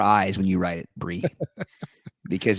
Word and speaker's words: Bree: You have to spell your name with more I's when you write it, Bree. Because it's pronounced Bree.